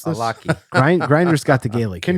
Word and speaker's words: Allachie: How do you pronounce this? Alaki. Grinder's got the Gaelic. Can you here. give me the Gaelic as you rub your eyes? No, Alaki.